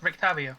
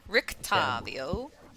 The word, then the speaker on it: Rictavio: You said that Rick, how's it pronounced? Rictavio. Rictavio.